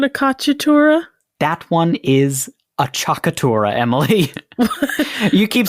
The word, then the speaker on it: appoggiatura: home who are wondering is spelled a cc I a cc a t u are a a chakura I think I was pronouncing it wrong because I was sort of blending it with aura and we're all hungry